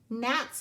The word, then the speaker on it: gnat: it's called a gnat gnats are like little fruit flies they're very annoying gnat is spelled with the ghost letter G and when you see this card you will say gnat ghost digraph GN mm-hmm